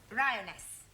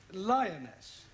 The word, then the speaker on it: lioness: lion roness lioness roness no l l r r you're not saying it right very sorry I know try saying roness lioness good well in future every time you see an L pretend it's an R right Anna yeah feminine